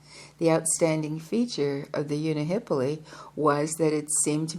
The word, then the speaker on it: unihipili: Unihippoly is pronounced Unihipili. Unihipili.